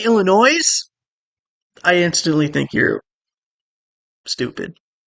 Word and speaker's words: Illinois: Because when people say Illinois, I instantly think you're stupid. There's no S on the end.